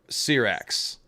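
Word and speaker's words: Syrax: met of course was Cyrax and by the way one of the Dragon Keepers pronounced it um uh sir X so I I've I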